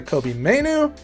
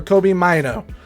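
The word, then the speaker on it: Kobbie Mainoo: It is either Kobe Mayu or Kobe Mayu, but the young Manchester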